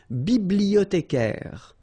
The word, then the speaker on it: bibliothécaire: Then un bibliothécaire. Bibliothé. Remember in French the H doesn't exist, so you don't pronounce it.